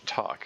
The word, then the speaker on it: toque: later uh another streamer who uh pronounced that word talk and then I brain flinched cuz as a Canadian I've called it a toque my whole life.